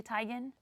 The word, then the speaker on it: Teigen: should I see that her last name is actually Tigan that's what she claims John told us on the red carpet that please keep pronouncing about it's Teigen it's and that interviews also